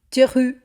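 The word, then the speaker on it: Theroux: Louis teru é teru lui. Teru teru. O apelido é francês na origem, mas na pronúncia dele fica bem perto de Thu.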